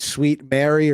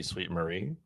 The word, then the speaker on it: Sweet Marie: to forgive the pronunciation is it sweet Mary or sweet Marie for the Canadian Fun Size uh am I going here should be sweet Marie sweet Marie so that's